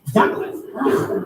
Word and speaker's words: Douglas: And now Ricky's adult mom's new boyfriend, Douglas, that's how he pronounces it because he says that's the official way. Douglas.